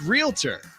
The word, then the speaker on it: Realtor: lot of Realtors realtor it's realtor right it's realtor it's not realtor and it's not it's real estate because it's real estate but it's not a real atour it's just a realtor